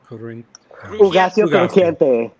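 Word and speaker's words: Hugáceo Crujiente: Representing Drag Race España, David, can you pronounce it so I don't butcher it, please? Ugacio Ugacio Crujiente.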